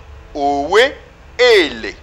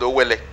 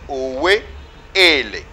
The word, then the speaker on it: Owe Ele: Now, after his rule, he had the title called Owe Ele. Today is kind of mispronounced and called Owele. But his real title was Owe Ele.